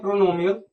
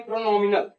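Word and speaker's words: pronominal: को, इसको कहते हैं प्रोनोमियल, प्रोनोमियल एडजेक्टिव। क्या कहते हैं इसको? प्रोनोमियल एडजेक्टिव। ठीक है, डिमॉन्स्ट्रेटिव प्रोनाउन को क्या क्या कहते हैं? प्रोनोमियल, प्रोनोमियल नहीं, प्रोनोमिनल। एक मिनट यार, प्रोनोमियल नहीं, प्रोनोमिनल, प्रोनोमिनल, प्रोनोमिनल।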